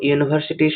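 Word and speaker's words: university: এখানে দেখো ইউনিভার্সিটি শব্দের উচ্চারণ ওয়াই ডবল ও ইউ দিয়ে শুরু হয়, যা একটি কনসোনেন্ট সাউন্ড দিচ্ছে, তা ইউনিভার্সিটির আগে আর্টিকেল এ বসবে।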